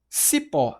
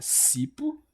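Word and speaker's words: cipó: Sipó, a gente fala sipo, a gente fala sipo, ou a gente fala sipó. A gente fala sipó. Portanto, o pó ele é a sílaba tônica.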